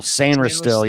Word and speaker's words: Sainristil: Mike Sanistril. Is that how you say it? Sainristil, yeah.